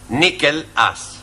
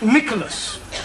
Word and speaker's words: Nicholas: upon a times there was a man called nickel ass that's not quite right no no once upon a time there was a woman called Nicholas it's pronounced Nicholas all right once upon a time there was